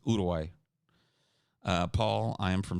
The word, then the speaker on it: Uruguay: started on working towards moving to Uruguay or sorry udai that's the that's the correct pronunciation it's udai uh Paul I am